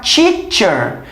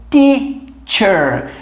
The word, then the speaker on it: teacher: então o que acontece você não pode falar teacher tem que ser teacher repare que esse movimento de meio de língua é o e aí